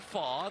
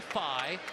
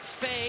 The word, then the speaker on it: Faye: If you're wondering, last year Babacar 5 was listed Babacar Fa. Then he went to the sports information staff and said, no, it's actually Phi. They pronounce it Faye here at the arena, but Hank Plona talked to Babacar today and said, what do you want Carter and Pete to say? He said Phi.